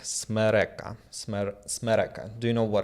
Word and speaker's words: смерека: So pronounce after me. Смерека. Smereka. Смерека. Smereka.